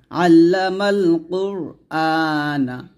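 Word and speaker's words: علّم القرآن: মান এরকম ভাবে তারপরে আইন লাম জবর আল লাম জবর লা আল্লা মিম লাম জবর মাল আল্লামাল কফ র পেশ কুর আল্লামাল কুর হামজা খারা জবর আ নুন জবর না আল্লামাল কুরআনা যদি অক্ষর ধরে তাহলে হবে আল্লামাল কুরআন এরকম আল্লামাল এ মিমকে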